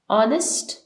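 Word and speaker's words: honest: is dash ऑनेस्ट girl ऑनेस्ट noun है जो कि स्टार्ट हो रहा है एच से लेकिन जैसे कि ऑनेस्ट का एच साइलेंट होता है तो हम सेकंड लेट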